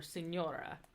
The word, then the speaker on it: signora: And then GN is pronounced like the NY in canyon. So signore or signora. So there's a G, but it's almost like it's just not there.